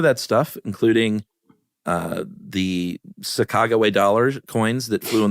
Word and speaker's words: Sacagawea: Yeah, I think it's one of those things where like the the native pronunciation is Sacagawea and Americans were like Sacajawea.